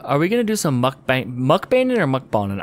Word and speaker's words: mukbang: I don't think yeah I think it's pronounced moot bang bong I don't know it's mukbang I don't care I said